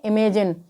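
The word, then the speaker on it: imagine: एन आया है, तो यहाँ पर जी का उच्चारण ज होगा। तो आई एम ए जी आई एन ई को हम क्या पढ़ेंगे? इमेजिन।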